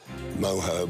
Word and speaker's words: mojo: really Splendid quality and I know you pronounce it uh moho but this dish has plenty of Mojo let me tell you